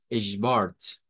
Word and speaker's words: Schwarz: decir el schwa, shba, y luego vamos a agregarle la R, la T y una S. Entonces vamos a decir Schwarz, Schwarz, Schwarz.